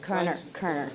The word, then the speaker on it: Koerner: I always don't know how to pronounce your name. Koerner.